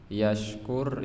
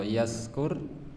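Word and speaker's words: يشكر: Yashkur itu artinya syukur. Kalau yaskur mabuk. Bentene namung di sini sinnya tidak ada titik, itu artinya mabuk. Kalau yashkur artinya syukur.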